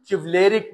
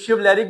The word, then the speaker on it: chivalric: चिवलैरिक, क्या करेक्ट इसका मीनिंग क्या बनता है, चिवलेरिक, बहादुर, शिव CHI, कुछ शिवलैरिक भी पढ़ते हैं, CHIVALRIC, शिवलैरिक पढ़ें या चिवलैरिक पढ़ें आपकी मर्जी है।